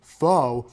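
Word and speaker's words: phở: Pho is actually the name of Vietnamese soup, but it's actually pronounced as pho, as if you're asking a question.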